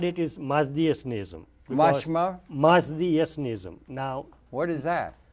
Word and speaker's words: Mazdaism: Mazdaism. That's a mouthful, isn't it? How do you say it? Mazdaism.